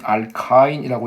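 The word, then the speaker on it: alkyne: 자, 또 한 가지는 알킨이라고 저는 읽겠습니다. 교수님들은 알카인이라고 읽으세요. 근데 저는 알킨이라고 읽을게요.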